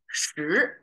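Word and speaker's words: 十: This cross thing is Chinese number 10, pronounced as shi.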